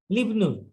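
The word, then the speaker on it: لِابْنِ: লি দিয়ে তারপর ইবনু বলবো না, লিবনুল। লিবনুল মুয়াজ্জিনি।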